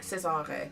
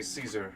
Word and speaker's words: Cesar: was Caesar yes I Cesar Cesar go you know how to pronounce it correctly well you just said it so well you most people say Caesar you have a nice